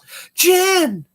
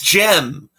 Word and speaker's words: Jem: there that'd be funny Jen Jen oh no it's Jem Jem and the Holograms not Jen and the Holograms yeah yeah that's Silla it rhymes it does yeah that's funny so